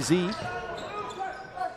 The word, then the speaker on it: Sze: and they don't have the basketball here's Anderson Sean Anderson silon block then quickly to z Maui Z and that's surname spelled sze but pronounced Z I'm told there's the